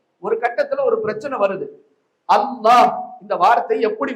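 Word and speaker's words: الله: பிரச்சனை சதக்கத்துல்லா அப்பா சொன்னாங்க இதுல ரெண்டு லாம் வருது அதனால இது வந்து இந்த ரெண்டு லாம் வர்றதுனால லாம் மாதிரியும் உச்சரிக்க கூடாது லாது மாதிரியும் உச்சரிக்க கூடாது ரெண்டுக்கும் நடுநிலையாகத்தான் உச்சரிக்க வேண்டும் என்று பிரச்சனை சண்டை வாதம் ஒரு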